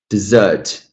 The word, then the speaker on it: dessert: The first one, okay, I know I have to stress the second syllable out of two. Dessert.